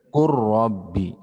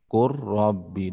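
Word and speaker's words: قُل رَّبِّي: Ketika lam bertemu dengan huruf ra, maka cara membacanya masukkan lamnya ke huruf ra. Dalam artian lam tidak terbaca lagi.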